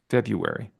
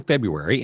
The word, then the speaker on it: February: do you pronounce it February I don't pronounce the r i don't either I Fe it's silent R okay so we'll have another one in February and then in March